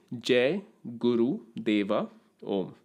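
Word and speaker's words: Jai Guru Deva Om: lenon does it but I'll just tell you what is the correct way to say it it is J Guru DEA om all right till next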